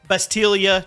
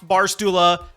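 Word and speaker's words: Bastila: Bastilia, not Barula.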